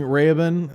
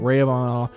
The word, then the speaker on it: Rehoboam: Lunt comes in and he's fun, and he because the King Rehoboam, I'm saying his name wrong. Rehoboam, Larry is like, oh, maybe I should be gentler because everyone asked me to, and Mr.